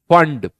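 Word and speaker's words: Pfund: तो इसे बोला जाता है फंड, पी फंड, पी यहां साइलेंट है।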